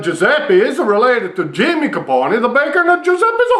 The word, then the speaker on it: Capone: It's a vowel, A-I-O-U. E is pronounced A. So it's a Capone, but nobody pronounces it like that.